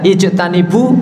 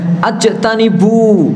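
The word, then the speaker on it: اجتنبوا: Contoh misalkan saja di sini kata-kata ya ayyuhalladzina amanu, dia ijtanibu, seharusnya dibaca ijtanibu, tetapi dia bacanya ajtanibu.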